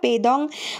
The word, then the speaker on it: পেডং: কিছু কথা বলা যাক এটাকে আমরা পেডং বললেও এটাকে ওখানের স্থানীয় লোকেরা পেদং উচ্চারণ করে থাকে পেডং হলো কালিমপং থেকে